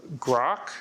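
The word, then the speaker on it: Groq: isn't open um uh grock which is a has some very fast hostings for like llama 3 not to be confused with Twitter's grock which is their Ai and pronounced identically um we have port.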